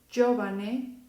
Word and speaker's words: giovane: Después, cuando yo tengo a la letra G con las vocales I y en unión de A o U, los sonidos van a ser igual de la Y. Y voy a poner ya, yo, yu. Ya, yo, yu. ¿Ok? Entonces se pronuncia giallo, giovane, giustizia.